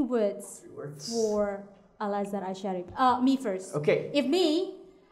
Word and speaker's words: Al-Azhar Asy-Syarif: Al-Azhar Al-Azhar Asy-Syarif. Asy-Syarif. Oh, you pronounce good. Thank And you. then make it faster. Al-Azhar Asy-Syarif.